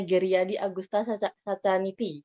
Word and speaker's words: Geryadi Agusta Sacaniti: Jadi saya Indonesia banget, jadi mungkin bacanya Geryadi Agusta Sacaniti gitu ya. Ya, Beliau memang seperti lahir itu, di Mbak. Oh, emang seperti itu ya?